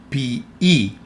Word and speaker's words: ποιεῖ: Ποιεῖ, the combination of omicron and iota makes the sound E, and also the combination of epsilon and iota makes the sound E. So this word is pronounced ποιεῖ.